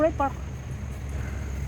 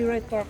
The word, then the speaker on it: Wright Park: Oh, right park. Left park. Diyan? With silent W ya.